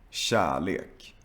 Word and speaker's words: kärlek: And when you see a K followed by a soft vowel. Also, check out the previous video about K and G. Kemi, kilometer, kyckling, känna, kärlek, kött.